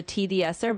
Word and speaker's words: TDSER: So just like T and then Dser al together.